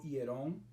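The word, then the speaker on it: ἱερόν: Hay una palabra que se pronuncia en griego hierón, que tiene que ver con el complejo del templo, es decir, el templo en sentido general, ¿verdad?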